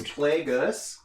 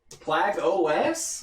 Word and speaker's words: Plagueis: It's Plagueis. Plagueis? Oh, okay. Okay. Darth Plagueis. Okay. Sorry for anyone who was offended by my mispronunciation. Plagueis? Oh shit. Wait. Now we got... No, Plagueis? Plague-OS?